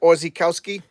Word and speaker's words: Orzechowski: Oh, that's how you pronounce it? Orzechowski?